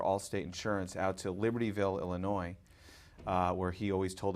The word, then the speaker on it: Illinois: illinois outside of chicago illinois where the s is silent he's good important to